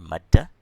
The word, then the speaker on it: Maddah: Here, Maddah. Okay, which makes a letter very long. You pronounce it, it's elongated.